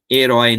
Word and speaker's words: herói: Herói no final tem acento oi.